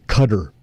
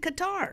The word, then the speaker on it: Qatar: For some reason the the mainstream networks you hear them say Cutter.